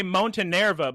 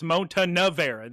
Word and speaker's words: Montenevera: Well, I'm frustrated because I always say Montenerva, but when I actually read it, it's Montenevera. They put extra syllables in it, so I don't like it either.